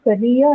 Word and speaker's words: career: So that is why career and trainy although they are dicyelic nouns the stress is on the second syllable for both of them because it's the second syllable that carries the dipro or the long vowel in both the cases and hence that